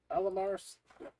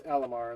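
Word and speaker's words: Alimar: Welsh word I have no idea how to pronounce it so Terrell terrellland Tara nilt Tara Nell thank you thank you um Ella Mars it's Alamar and then last name is Stone more LMR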